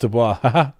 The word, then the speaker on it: Du Bois: It's actually pronounced Du Bois.